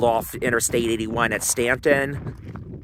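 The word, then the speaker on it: Staunton: to Interstate 81 at Stanton spelled with a u it's been taking the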